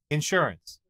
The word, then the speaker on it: insurance: does the first time insurance insurance where the emphasis is on the first syllable and it's only got two all right mon lisao